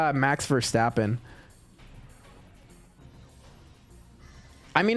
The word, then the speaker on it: Verstappen: Pronouncing his name, Max Verstappen. Verstappen. Max Verstappen. Did you get it? Let me know in. It's Verstappen, not Verstappen.